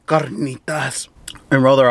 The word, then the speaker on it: carnitas: still try to say Carnitas and roll their r if you don't speak Spanish but you ever like want other rules of Spanish you don't roll your R unless it's a double r carnitas see the